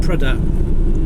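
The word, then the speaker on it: Prudhoe: No, from I know how to say it now. Prudder. I've been there once before, and someone said it. Pronounced it Prudder.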